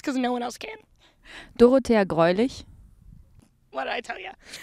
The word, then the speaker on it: Dorothea Greulich: She's going to pronounce her name how it's actually pronounced because no one else can. Dorothea Greulich.